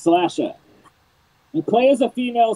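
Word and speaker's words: Slashr: a 2d horror game called slasher the Slash and then the letter R it's pronounced slasher you play as a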